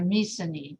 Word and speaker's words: Mycenae: And so, I'm sorry, Mycenae is how you pronounce it.